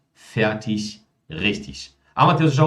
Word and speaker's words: fertig: IG no final de palavras, por mais que nós tenhamos o G ali no final, mas IG é pronunciado como ich. Então, nesse caso, nós temos Ludwig, ewig, fertig, richtig.